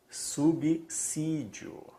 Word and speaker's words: subsídio: em pronunciar Esta palavra o s aqui ele não está entre vogais se estivesse entre vogais tem som dizer casar asa né asa então sabe qual é a pronúncia correta aqui subsídio subsídio sor subsídio não